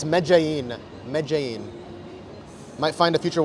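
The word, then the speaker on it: Medellín: It's it's it's it's spelled it's spelled like or at least when I look at it, I'm like, "Oh, Medelin." No, not even close. It's Mein.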